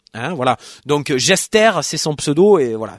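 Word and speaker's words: Jestaire: st à ir eux c'est une sorte de francisation si j'ose dire du mode gester j e steer en anglais qui veut dire un bouffon ou pitre voilà donc gester c'est son pseudo et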